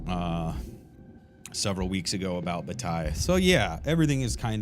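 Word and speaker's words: Bataille: So yeah, everything is kind of uh circling around George's Batil as uh as some electronic uh artificial intelligence e-readers will pronounce George Batai's name. They will say George's Batil.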